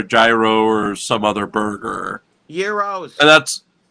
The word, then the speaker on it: gyros: Euros. Well, there you go. The G is silent. Yeah. It's called a euros.